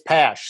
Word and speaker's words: Pasch: It's Pasch. So rhymes with that. Pasch, Cash, we're good.